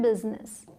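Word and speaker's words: business: अब यह क्या है जिसके स्पेलिंग बुज्जी ने लगती है लेकिन इसे क्या बोलते हैं बिजनेस बिजनेस ठीक है फादर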